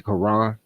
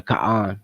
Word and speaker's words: Quran: the notes that he used to create the Quran or the Quran, depending on how you want to pronounce it.